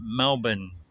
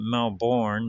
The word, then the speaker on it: Melbourne: Australia because it was for sale east of Melbourne, Victoria. If you look on a map, well, here they pronounce it Melbourne. Melbourne, but of course we pronounce it Melbourne, like Melbourne, Florida.